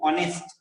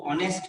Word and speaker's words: honest: Because here, if you see honest, even though it writes, it is written with H, it is pronounced with O, honest. It is pronounced with O, honest man.